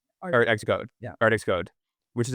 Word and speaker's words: ArtxCode: Art Xcode.